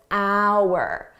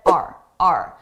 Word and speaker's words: our: I did not pronounce this as hour. I said RRA very reduced sound R our successes, our successes, our successes and failures here.